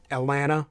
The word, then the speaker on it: Atlanta: uh Atlanta you pronounce Atlanta correctly you basically just skip the T all together Atlanta right or it's pronounced